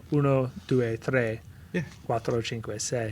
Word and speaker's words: tre: It's uno, due, tre, yeah, quattro, cinque, sei. Yes, it's tre. It's not tree.